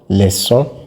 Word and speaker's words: leçon: Wherever you see the cedille, you know that you pronounce the C like S. For example, garçons, leçons.